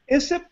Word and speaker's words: ISSIP: I am serving as an ISSIP ambassador, and they want to pronounce their institution as ISSIP.